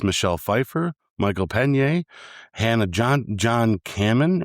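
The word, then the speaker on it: John-Kamen: Main cast was good old Paul Rudd, Evangeline Lilly, Michael Douglas, Michelle Pfeiffer, Michael Pena, Hannah John Kamen, right? That's how you say it. Yep. John Kamen, yep.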